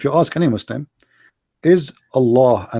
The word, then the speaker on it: Allah: You say Allah the H is really strong. In Arabic there's light light light h which is not even pronounced.